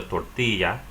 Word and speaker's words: tortilla: The double L sounds like Y in Spanish. The word she is pronounced ella. Or that cheesy thing you get is called a quesadilla. The wrapping around a lot of those things you eat is called a tortilla.